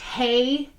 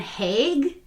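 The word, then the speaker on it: Haigh: john george haig okay i heard it pronounced hey and hague yeah but mostly hague and it was like people from london saying it so i was like you know i'm just going to go with haig i was going to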